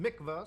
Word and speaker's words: Mikvah: the 770 Chabad headquarters so Mikvah or Mikvah whatever the pronunciation is I'm not Jewish obviously actually says pronounced Mikvah so I was right in the first one almost every Jewish Community